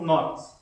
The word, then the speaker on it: Knox: Aí o Knox é com K, né? Mas se lê John Knox. Né? Não se pronuncia o K que é mudo.